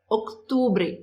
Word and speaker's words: octubre: Igualzinho no mês de outubro aí, que tem um C, octubre, octubre, octubre. Tem que fazer esse C. Ele é fraquinho, mas ele tá ali. Não pode falar outubro, octubre, octubre, octubre, octubre, tá?